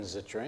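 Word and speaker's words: Zittrain: were at or just a little earlier Jonathan zitrine am I saying it right yep is a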